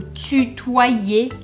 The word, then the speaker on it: tutoyer: Est-ce que vous allez vous voyer ou tutoyer la personne? Pra quem ainda tiver com alguma dúvida de pronúncia, preste atenção. O Y em francês, ele tem um som que equivale a dois Is.